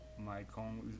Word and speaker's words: Maicon: Like I have a friend whose name is like Maicon. It's like the way you'd hear Michael, kind of like if you speak Portuguese, how you would write it out phonetically if you heard Michael in English.